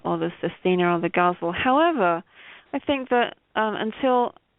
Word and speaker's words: ghazal: I pronounce it ghazal, and a lot of people pronounce it huzzle.